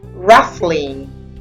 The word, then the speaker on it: rustling: FTI or ferle Renown Homestead softened the t is silent soften weary beneath rustling the te is also silent rustling Transcendent and